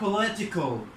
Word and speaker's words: political: هنا هنعمل ستريس على ال LI تبقى بولي ال LI دي بديها كده حاجة بسيطة اعمل عليها ستريس political او بلوت او political.